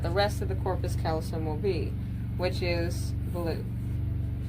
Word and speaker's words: callosum: But what brings that together is the next part that is called the corpus callosum. Some say callosum, I say callosum, because that is how that is spelled.